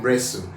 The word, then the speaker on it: wrestle: T is silent in wrestle.